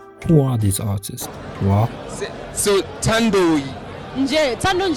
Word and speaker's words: Thandonje: sisters of seoul who are these artists so tandoo tandon j is just saying tano like silicon